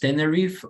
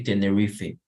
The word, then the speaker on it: Tenerife: In it is pronounced Tenerife, but British also say Tenerife.